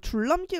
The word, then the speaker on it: 줄넘기: 어, 그다음에네 번째 줄넘기 같은 경우에는요. 리을하고 니은이 만났을 때 니은이 리을로 변하는 유음화 현상에서 줄넘기 일어나게 되고요.